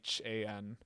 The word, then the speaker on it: Raytheon: But it's not pronounced like that. It's a Raithan.